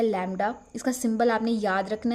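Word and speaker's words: lambda: इसको प्रोनाउंस करते हैं लैम्डा।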